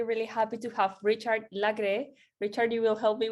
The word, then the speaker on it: Lagrée: name is richard and i would say in french you say lagree so i come from